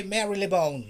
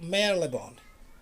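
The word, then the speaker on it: Marylebone: houston houston station how we don't have to pronounce it we don't have to say mary lebone no mary lebone never remember that i told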